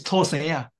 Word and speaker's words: 土生仔: Actually, this term should be pronounced from Hokkien dialect, from Taiwan dialect. It's 土生仔.